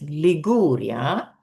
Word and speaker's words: Liguria: Here is Liguria. So the stress is here on the second syllable.